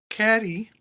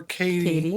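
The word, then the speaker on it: Cady: So when we come into it, Caddy or Katie if you want to say her name like you're nasty.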